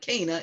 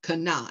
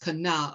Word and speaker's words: Cana: miracle in kanawha i used to call it cana it's actually pronounced kana and i still may go back to cana because it's a habit praise god but it's actually pronounced kana of galilee this is jesus's first biblically recorded